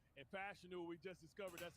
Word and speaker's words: Fashanu: Well, first of all, when you talk about it, it's funny because I've been saying Fashanu, and Fashanu, we just discovered that's how you pronounce it a couple of days ago.